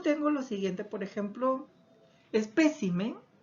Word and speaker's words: espécimen: Luego tengo lo siguiente, por ejemplo, espécimen y especímenes. Cómo ha cambiado la posición de la sílaba tónica en esas palabras.